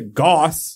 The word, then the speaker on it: Gus: this cleaner great character his name is Gus but they pronounce a Goss boss yeah he is always